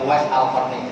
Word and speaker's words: Uwais al-Qarni: Bacanya Uwais Al-Qarni, jangan salah harokat.